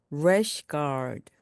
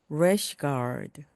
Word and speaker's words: rash guard: 이때도 R이란 발음으로 시작하기 때문에 입 모양을 우 하고 만든 상태에서 rash, rash 그리고 guard를 붙여서 rash guard, rash guard, rash guard, 래시 가드입니다.